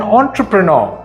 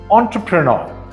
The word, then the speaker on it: entrepreneur: suit what sweet an entrepreneur is a businessman it's pronounced entrepreneur not entrepreneur most ironically the word